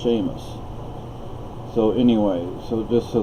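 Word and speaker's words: Séamus: H, and it's like my name does not have an H in it, but it's pronounced Seamus.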